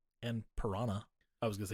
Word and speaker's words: Piranha: Did I say Piranha? I meant Piran because that's how they pronounce it in the movie.